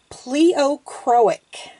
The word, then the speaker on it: pleochroic: It is actually pleochroic. Pleochroic. I had to look that one up, how to pronounce it, just to make sure I had it right.